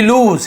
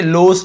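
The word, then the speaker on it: lose: वी लूज, इसे लोस नहीं पढ़ेंगे, लूज, ज ऐसे गजल ऐसा ज पढ़ेंगे, लूज जेड वाला ज, ठीक है।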